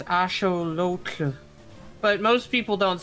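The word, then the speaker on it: axolotl: forward I'm probably still going to say it axelottle even if I know now it is actually supposed to be pronounced ashelot ashelot. Yeah, you're right. It's ashol.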